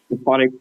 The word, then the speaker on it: Aphotic: Am I pronouncing that right, Aphotic Strain? Aphotic, yeah, I believe.